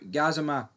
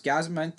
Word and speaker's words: Gassama: But moving on to Gazima or Gazim, I don't even know. It's Gazam. I believe that's how you pronounce his name.